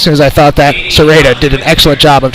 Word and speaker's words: Serrata: I think I said Serrata in the first half. Serrata is the pronunciation.